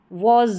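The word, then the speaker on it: was: अब इसको वॉज पढ़ते हैं, वास नहीं पढ़ते, इस तरीके से।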